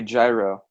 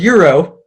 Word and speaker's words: gyro: I think I'm gonna go with A, gyro. All right. Gyro. Well, it's pronounced Euro, but I Well, appreciate the effort.